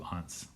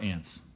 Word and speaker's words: aunt: to live with his two hunts or ants people pronounce it differently their names were aunt